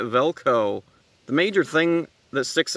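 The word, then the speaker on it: Valko: of the day's name is uh actually spelled v-a-l-k-o in my notes I spelled it v-e-l-k-o so I mean that's how they that's how everyone pronounces it so screw it I'm spelling it velco the major thing that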